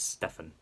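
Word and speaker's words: Stephan: Now, his name is spelled as Stephen, but no, it's Stefan.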